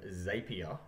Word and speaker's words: Zapier: do a little bit of an introduction to zapier until that's the correct way to pronounce it I've made a bit of a